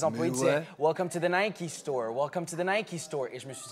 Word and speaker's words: Nike: Nike, elle a soufflé, la vraie prononciation, c'est Nike. Moi, au début, pendant des années, je disais Nike.